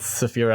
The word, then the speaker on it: Saphira: I think I think I think spelled differently but it's pronounced Saphira I think rather than Sapphire rub it still exactly